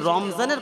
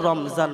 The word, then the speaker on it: রমাজান: মাস এই রমজান মাস যদি কোন বান্দা উচ্চারণ করে রমাজান তাইলে প্রতিটা অক্ষরের বিনিময়ে রাব্বে জুল জালাল তার আমলনামায় 70 টা করে নেকি দান করে একবার চিল্লায়ে বলেন রমজান এটা কি ভাষা আরবি ভাষা কি ভাষা রমাজান কথা বুঝলেন না কেন